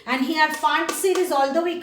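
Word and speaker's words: Pfund: The next one is known as the Font series. This is not P font. P is silent.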